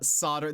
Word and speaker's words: solder: Uh solder the L is silent.